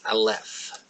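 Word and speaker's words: אלף: The first letter of the Hebrew alphabet is Aleph. It is a silent letter.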